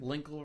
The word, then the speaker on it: Linkle: Linkle rhymes with sprinkle and dinkle and tinkle.